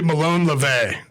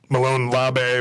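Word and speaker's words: Molon labe: the radio people yeah it's actually malone le vay is this the appropriate malone lobby but it's la va i think it's the right way the greek way of pronouncing it but what it means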